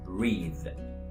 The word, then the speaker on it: breathe: The second word with E is breathe.